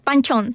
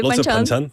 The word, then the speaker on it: banchan: additional foods like panchchon, right? Yeah. If I pronounced the rightly, banchan.